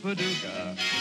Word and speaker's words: Paducah: Paducah, Paducah, if you wanna, you can rhyme it with bazooka, but you can't poo-poo Paducah. That's another name for paradise.